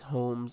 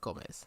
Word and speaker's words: Holmes: letting me know that I've been saying it wrong all these weeks um that it is homes and not Gomez so uh I told